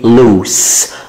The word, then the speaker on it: loose: lose في زد كده، lose الاسم بتتنطق زد والloose loose.